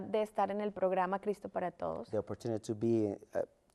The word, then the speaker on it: Cristo para Todos: Erica and Helen, how did you get involved in, and why do you like being part of Cristo para Todos? And I pronounced that okay, didn't I?